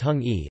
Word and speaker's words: hangi: will often feature a hangi pronounced hung e a pid in which